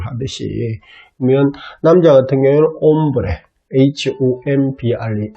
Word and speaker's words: hombre: 그러면 남자 같은 경우에는 hombre, H-O-M-B-R-E. H가 제일 앞에 오게 되면 무거운, 발음이 안 된다고 제가 말씀을 드렸습니다.